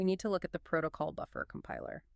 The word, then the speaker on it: protoc: We need to look at the protocol buffer compiler. Right, we're talking about proto. It rhymes with rock. Just say it's one smooth word, you don't spell it out.